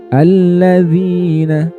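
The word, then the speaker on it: الَّذِينَ: Dibaca panjang satu alif. Alladzina, alladzina, zina, zina, seperti itu. Jadi panjangnya satu alif.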